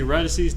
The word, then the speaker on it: radices: So let's see, radices, is that how you say radices? Is that the word? Is that how you pronounce that?